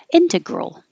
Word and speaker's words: integral: e rear and integral this g-r-a-l looks like growl or growl but it's growl so you're just going from the g to the r to the l growl don't even think about what vowel should be integral and jim with